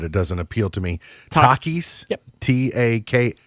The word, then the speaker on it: Takis: the store but it doesn't appeal to me Takis t-a-k Takis Takis Takis yeah it's all I don't know it